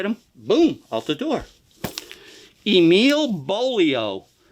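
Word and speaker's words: Emil Beaulieau: boom out the door Emile bolio rhymes with polio now this guy was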